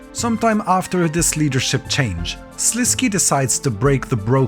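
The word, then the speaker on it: Sliske: He's also very close to my heart due to me pronouncing his name Slisk when I made my first ever lore video, which basically got me cancelled by half the viewership.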